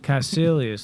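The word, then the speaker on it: Kaecilius: Caecilius.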